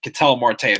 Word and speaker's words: Ketel Marte: up he for sure is a Ketel Marte can tell Marte that's how I pronounce his name 1 2 2 he haven't